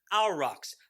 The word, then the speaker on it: aurochs: known as an aurochs this is how it's spelled a u r o c h s alrox i hope i'm pronouncing it correctly i really don't know a u r o